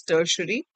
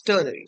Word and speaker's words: ternary: Few people pronounce it as tertiary, but yeah, it's ternary.